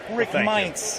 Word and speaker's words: Meints: And Rick Meints is joining me. Did I pronounce it correctly?